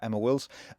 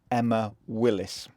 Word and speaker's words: Emma Willis: years I spoken to friends and family about Emma Wills only to realize on my visit that I've been pronouncing her name wrong the whole time some